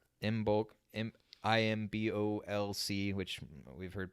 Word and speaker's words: Imbolc: The bottom line was, as we're talking about this event, which is called Imbolc, IMBOLC, which we've heard pronounced other ways as well.